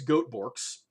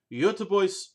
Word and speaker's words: Göteborgs: pronounce this Goethe Bork's however someone who is much more in the know than I am has told me that the appropriate pronunciation and I'm in a butcher the hell out of this is actually the other voice so in that butchered spirit we're going to be talking about yo tu vois prima fint loose snus